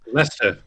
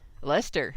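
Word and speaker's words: Leicester: Nottingham and uh I I think this is pronounced like Hester and YoVille Lester Lester really yeah I know I know your uncle okay like your uncle Lester so is YoVille pronounced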